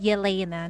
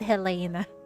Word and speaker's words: Jelena: her name yena oh it's pronounced that yena not Helena yena kind of looks like